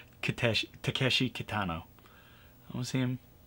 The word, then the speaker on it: Takeshi Kitano: I'm sorry, I mispronounced. Like I got his name wrong. Takeshi Kitano.